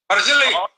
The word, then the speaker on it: Mazzilli: Mazzilli rhymes with Willie.